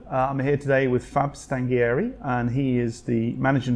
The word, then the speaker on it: Stanghieri: Now, Stanghieri, obviously that's a good Italian name, but I can't pronounce it properly. It is. It's Stanghieri, but you did very well with Stanghieri.